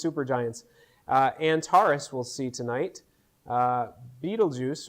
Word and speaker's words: Betelgeuse: Betelgeuse, or Betelgeuse as it's more correctly pronounced, is on the opposite side of the sky.